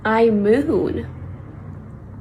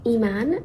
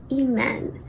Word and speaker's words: Iman: Anyways, the correct pronunciation is in French, eman, and in Arabic, eman. If you are English speaking and it's really hard for you to get either of those tones, I also accept Iman.